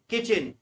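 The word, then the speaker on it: kitchen: Third है किचन, किचन में third number का लेटर टी साइलेंट रहता है।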